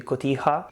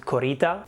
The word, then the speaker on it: cotija: team is telling her how to pronounce a very specific mexican thing the cotija and she keeps repeating over and over the world korita which has nothing to